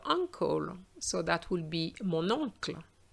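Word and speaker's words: mon oncle: so that will be monocle monocle have you noticed there's a little liaison between the n and the o so that it flows much better and then you have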